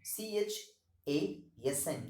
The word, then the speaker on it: chasm: there at evening cold and gray to a chasm c-h-a-s-m the pronunciation of this particular word is chasm and